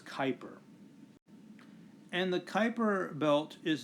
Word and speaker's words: Kuiper: the Kuiper belt now notice the spelling here k UI PE or that's a weird name but the way that you pronounce that is Kuiper and the Kuiper belt